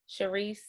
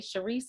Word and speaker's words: Sherise: You guys can keep up with me on all social media platforms at Sherise. Sherise is spelled like she rise.